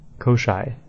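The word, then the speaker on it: Koschei: Fric trials Quest and they pronounce it Koshi kosai kosai kosai the deathless it's a little bit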